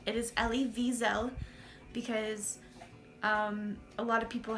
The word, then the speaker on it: Wiesel: correct it is le visa because a lot of people have mispronounced that and called it weasel or and that's not correct it's actually visa with a V because we learned the